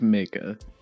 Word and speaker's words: Maka: And the two times we have mentioned this name, both times it's been wrong. It is Maka.